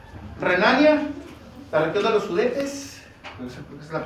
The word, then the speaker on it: Sudetes: Renania, la región de los Sudetes, esa es la pronunciación, y Austria.